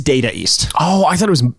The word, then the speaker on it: Data East: And by the way, I kept saying Data ninjas. East. It's Data East.